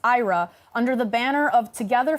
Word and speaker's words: IHRA: This year, Sweden holds the rotating presidency of the International Holocaust Remembrance Alliance, or IHRA, pronounced IRA, under the banner of